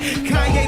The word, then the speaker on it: Kanye: All I need is y'all to pronounce my name. Kanye, but some of my blacks, they still say Kane.